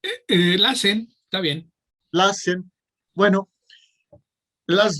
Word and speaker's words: LACEN: ¿Cómo lo debemos pronunciar? LACEN, está bien.